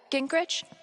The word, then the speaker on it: Gingrich: Steph, Gingrich?